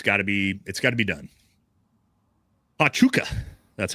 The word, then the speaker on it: Huachuca: Huachuca, that's how it's pronounced.